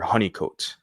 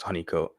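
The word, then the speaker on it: Holnicote: And so it's pronounced right here, honeycomat. I was, you know, tripping trying to pronounce it the way it's spelled, but it has right here pronounced honeycomat.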